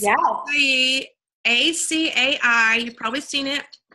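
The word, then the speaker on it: açaí: bowls and I are fabulous it's well the ACA I probably seen it it's a type of fruit lot of people mispronounce it that I have learned here in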